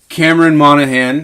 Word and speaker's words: Cameron Monaghan: so good though oh he was perfect terrifying Cameron Monaghan that's how you say his name yeah he